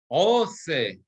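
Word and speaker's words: עֹשֶׂה: Ose peri lemino. Right? Usually we're going to say ose. Here again, because it's נסוג אחור, נסוג לאחור, עושה פרי למינו, אשר זרעו בו על הארץ, ויהי כן.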